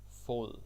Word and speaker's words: fod: Fod, that's how you say it.